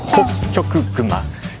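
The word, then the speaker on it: ホッキョクグマ: Alright, so last animal is polar bear Polar bear is kind of difficult to say in Japanese It's "Hokkyoku Guma", Polar is "Hokkyoku" bear is "Kuma (Guma)" So, yeah it is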